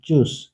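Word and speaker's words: Tschüss: Pray, fries, দাম, বে, brought, ফে, পয়েন্ট, বন্ধু, উং, ভনু, বাস, ভাষা, টে এস সে হা থাকলে চয়ের মতো উচ্চারণ হবে, যেমন চুস, চুস মানে বিদায়।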